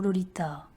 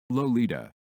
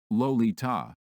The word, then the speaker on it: Lolita: most Americans pronounce it, Lolita, with a heavy, clemmy L and a long O. No, the first syllable should be as in lollipop, the L liquid and delicate, the Li not too sharp.